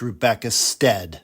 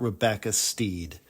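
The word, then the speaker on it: Rebecca Stead: It's Rebecca Steed, not Rebecca Steed.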